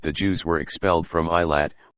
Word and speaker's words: Elath: In 2 Kings chapter 16 verse 6 it mentioned that the Jews were expelled from I Lat which was sometimes pronounced Elath and Elith.